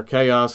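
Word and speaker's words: Xaos: it's been chaos oblivion it's X AOS but I'm assuming it's a pronounced is a toss or chaos oblivion with the Black Mountain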